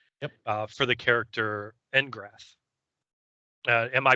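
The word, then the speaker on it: N'Grath: For the character Engrath. Am I pronouncing that right?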